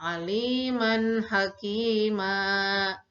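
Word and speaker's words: عليما حكيما: nah tulisannya Aliman hachiman Tapi karena kita berhenti wakaf makan bacanya Aliman hakima ya Undangan kalian bisa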